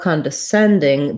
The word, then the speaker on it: condescending: thing to know condescending the send syllable gets the stress so our con and syllables are going to be shorter and reduced although we do have some secondary stress on con because often if c-o-n is unstressed it would have the schwa the uh sound but